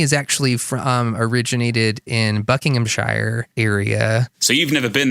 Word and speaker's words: Buckinghamshire: play my family is actually from originated in Buckinghamshire area so you've never been there cuz I've not how to pronounce it sir please please tell me how